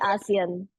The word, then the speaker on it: ASEAN: you're the managing director of, now is it pronounced it's collaboration for the ASEAN.